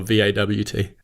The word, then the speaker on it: VAWT: Is it acceptable for me to say Vawt and Hort, or do I need to use it as the acronym and say HAWT or VAWT? No, you pronounce it Vawt or Hort.